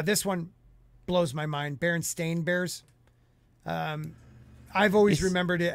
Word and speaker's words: Berenstain: Berenstain. Well, you guys are Australian. Because E-I-N is like Stein, like Einstein.